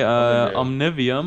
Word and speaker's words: Omnivium: I would say Omnivium. Omnivium, okay. I mean, it's not really a word, like a usual word, so I think you could pronounce it as you like.